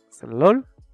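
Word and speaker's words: זלול: Vemos de que la E la estamos pronunciando, pero es una E muy suave. Por lo regular solo van a oír slol. Pero para efectos de aprendizaje podemos decir slol.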